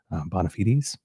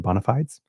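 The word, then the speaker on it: bona fides: those to her bon bonafites or bonafides depending how you pronounce it.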